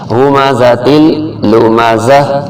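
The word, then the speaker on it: هُمَزَةٍ لُّمَزَةٍ: ہمزۃ لمزہ، ہمزۃ لمزہ۔ اور یہ گول تا پہ جب بھی رکا جاتا ہے تو اس کے زبر زیر پیش اور نقطے وغیرہ تمام ختم ہو جاتے ہیں، اور وقت کی وجہ سے گول تا ہمیشہ ہا بن جاتا ہے، تو اس کو زا زبر ہا زہ پڑھا جائے گا، ہمزۃ لمزہ۔ ویل لکل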